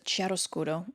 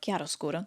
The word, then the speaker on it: chiaroscuro: Gerome employs chiaroscuro, or chiaroscuro, depending on how you pronounce it, which uses strong contrast between light and dark to create a dramatic effect.